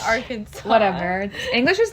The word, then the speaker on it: Arkansas: It's Arkansas.